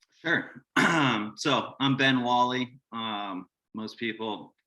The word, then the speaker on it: Whalley: today and then sure um so i'm ben wally um most people mispronounce it as whaley but it is what it is um so